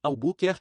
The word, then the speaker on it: Albuquerque: reúnem no todo original a maneira de aprender a pronunciar a buquer que é quebrá-la em três fragmentos menores assim a bu ker que Escreva as três